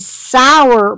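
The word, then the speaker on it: Sauer: heard of them, and Sour Brands. I've heard of them. It's spelled S-A-U-E-R.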